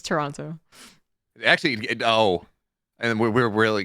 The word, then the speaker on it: Toronto: here you go I refuse thank you it's Toronto actually oh and we're really going off I